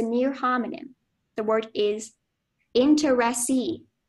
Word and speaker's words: interesse: The word is interesse. It's a noun. It's from medieval Latin. It means a legal right, title, or share in property. And the sentence is, Tina retained the interesse in the property from her father's will.